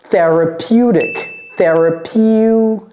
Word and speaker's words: therapeutic: En français, on va dire thérapeutique, mais en anglais, therapeutic. Et ce T là, j'ai dit dick.